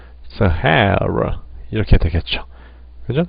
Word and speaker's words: Sahara: 사하라 사막인데 사하라 사막을 우리도 세 개가 들어간 또 대표적인 단어인데 액센트가 어디 오냐고요? 이음절에 오게 됩니다.